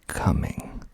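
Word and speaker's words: Cumming: spelled c u m m i n g coming we'll just keep we'll just keep moving irwinville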